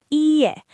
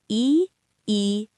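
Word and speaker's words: いいえ: Ie. That's the polite no. Let me break it down. I, e. Ie.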